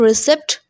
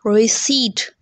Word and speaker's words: receipt: Because receipt, इट्स नॉट रिसिप्ट. I know इसमें पी है but silent है. रिसिप्ट is not the correct pronunciation. It's called receipt. What is called? It's called receipt.